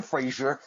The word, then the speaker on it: Fraser: As simple as it is, it's Fraser, like the House of Fraser.